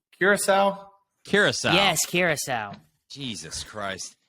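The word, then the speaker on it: Curaçao: actually no it is a liquor um uh sorakao Sirocco I don't know how to pronounce it but how do you spell it are you saying C Curacao Curacao yes Curacao Jesus Christ he's not from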